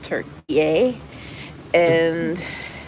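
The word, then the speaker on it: Türkiye: sailing out of Istanbul Turkey and that's the hell it's supposed to be pronounced turkey a who knew who knew turkey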